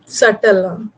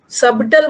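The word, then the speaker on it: subtle: सटल, सबटल मत बोलना, B silent है।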